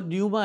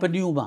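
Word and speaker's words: πνεῦμα: दम के लिए जो लफ्ज़ इस्तेमाल हुआ है वो न्यूमा है, पी पहले साइलेंट है, सही। पन्यूमा पन्यूमा। या पी साइलेंट है, सही। न्यूमा।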